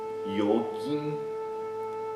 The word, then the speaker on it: yogin: Yoga, yogin é um outro exemplo que tem na transliteração o G seguido de I e a gente não pronuncia Gi, né?